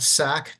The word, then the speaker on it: Sack: sack thank you my name is Dr sack I'm executive